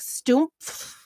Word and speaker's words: Stumpf: His German name is more like Stumpf.